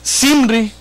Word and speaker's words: Zimri: Después que sirve, dio muerte a Ela, él mismo, fíjese nomás, Zimri, con Z, ¿verdad? ¿Cómo se dice, hermano José? ¿Sim? No es, porque no tiene acento en la I. Zimri.